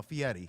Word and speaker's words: Fieri: you think so you know the um Guy Fieri is that how you say it yes no Fieri yeah come on here so Diners Drive-Ins and